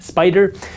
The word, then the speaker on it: SPDR: SPY is created by SPDR, pronounced Spider.